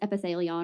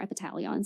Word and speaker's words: Epitalon: very well at all is epithelon or epitalon some people pronounce it that way um which is